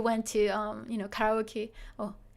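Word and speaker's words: カラオケ: to um You Know Karaoke or in Japanese it's actually karaoke but if you do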